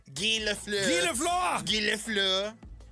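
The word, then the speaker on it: Guy Lafleur: Gilaflur. It's spelled guy.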